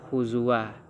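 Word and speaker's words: هُزُوًا: huzuah tanwin itu huzuah Kenapa tidak huzuan kalau kita berhenti karena ada waqaf qoli di situ maka cara bacanya adalah khuzua disebabkan jatuh dia kepada hukum ee Mad Iwat setelah itu lanjut kepada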